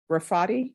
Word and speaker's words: Rafati: last name the party rafati yes so I pronounce the T yes yes okay all